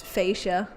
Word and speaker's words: Fascia: Yeah, you can call me. It's fine. A is a very valid thing to call me. Uh, but if you want the actual way to call it, it's fascia.